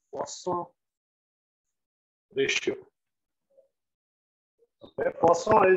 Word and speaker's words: Poisson: Okay, Poisson is French, therefore that is the pronunciation. But since we are in India, hum desi use karenge poison. Poisson ratio is equal to iska actual pronunciation of Poisson.